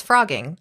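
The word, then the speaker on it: phrogging: what frogging it and it's spelled pH instead of f it is where someone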